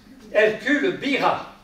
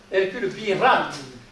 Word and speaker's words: Hercule Birat: Hercule Bira. Hercule Birat, parce que moi je prononce toutes les lettres, il y a la plaque sur sa maison natale à Narbonne.